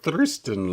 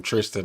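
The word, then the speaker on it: Thriston: because it's th HR I think about thrist I I'm like thristan Lawrence he's like well he is South African so they' be saying it I I I know it I couldn't get that pronunciation out of my mind so when they'd call him Tristan it was messing with me yeah um but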